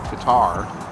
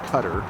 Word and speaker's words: Qatar: right now over in Qatar or Qatar depending on how you pronounce it in four years it